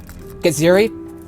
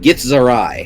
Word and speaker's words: Githzerai: The proper pronunciation with the Gith races is Githyanki and Githzerai.